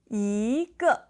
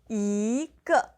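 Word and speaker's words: 一个: Yīgè. Yīgè. So, there's a little bit of a tone change here. So, it becomes to the second and the fourth tone together yīgè.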